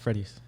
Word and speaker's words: Fredis: It's like Freddy with an S. Fredis.